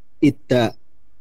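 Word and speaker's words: 있다: Ita ista Ita. ada. Bacanya ita ya.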